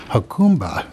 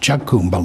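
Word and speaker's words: Jacumba: for an update on the hacumba line which i've always pronounced chuggumba line which is why i didn't know what it was and i responded to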